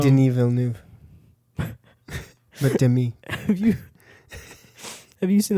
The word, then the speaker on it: Denis Villeneuve: Like Denis Villeneuve.